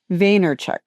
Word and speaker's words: Vaynerchuk: with Gary Vaynerchuk.